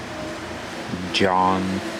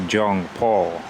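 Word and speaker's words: 정방: How did you say it correctly? Jeongbang. Let's call it Jeongbang Waterfall. I think I said before like Jeongpal.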